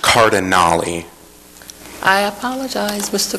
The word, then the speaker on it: Cardinale: for the second time my last name is pronounced cardinal I apologize Mr cardali thank you um hi